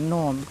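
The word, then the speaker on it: gnome: इसको नोम पढ़ना है नोम क्यों ई लास्ट में आया है ई भी मुक है इस ई का प्रोनाउंस करना नहीं करना है और जी एन से पहले आया है तो जी का भी प्रोनाउंस नहीं करना है तो जी और ई निकाल दीजिए बचता क्या है एन ओ एम नोम ठीक है चलिए वीडियो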